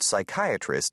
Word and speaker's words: psychiatrist: For example, the word psychiatrist starts with an S sound, but when spelled, it begins with a P.